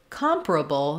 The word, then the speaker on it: comparable: the first syllable compare when we move to comparable that changes and our stress falls on the first syllable calm so now the letter com say the letter O says the ah vowel the open unrounded ah comparable and because uh the